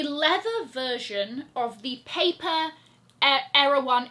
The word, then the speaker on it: Erewhon: that comes in the Erewhon bottle that says Balenciaga down the side. A leather version of the paper Erewhon. It's spelled Erewhon, but I feel like people pronounce it Erewhon.